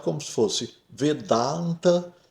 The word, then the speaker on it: Vedanta: pronunciado como se fosse vedanta e não vedanta ou vedant, né? Então, cuidado, o V é fechado, V, né?